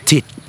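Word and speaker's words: thịt: In the north, the word for pork is tit. So tit t hi t actually means meat. So any meat. Titbar is beef. Titbar. uh titl is pork but in the south in Saigon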